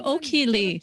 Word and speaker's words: Okhee: hello i'm royal master o'keeley i do it because you always call me royal master hello i'm crown master o'keeley sometimes i say it like this i'm okie lee who went from an